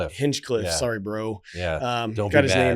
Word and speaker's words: Hinchcliffe: hin Cliff if you say it right HFF hinchcliff sorry bro um his wrong yeah he was